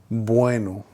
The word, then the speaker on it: bueno: I was learning Spanish, I learned to pronounce both at almost the same time. Bueno, bueno, bueno. You probably can't tell it there, but it's like a combination of both the B and the V at the same time.